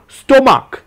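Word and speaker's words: stomach: এস বসায় যেমন দেখুন স্টোমাক এখানে কিন্তু সিএইচ টা চ উচ্চারণ হয়নি বরং ক উচ্চারণ করছে তাই জন্য স্টোমাক্স এস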